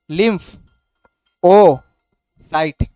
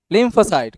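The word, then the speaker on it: lymphocyte: এন্টিবডিস ডবলিউবিসির মধ্যে কে বানায় আসার হইব লিমফোসাইট উচ্চারণ হয় না লিমফ ও সাইট সন্ধি বিচ্ছেদ করে পড় আচ্ছা ইংলিশে সিলেবেল ভাইঙ্গা ভাইঙ্গা পড় লিমফ ওসাইট লিমফোসাইট এন্টিবডি কে বানায় লিমফোসাইট গুড আচ্ছা এরপরে বলছিলাম যে লিমফোসাইট আবার আমরা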